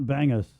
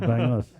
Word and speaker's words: bangus: Not bangus. It's pronounced bangos.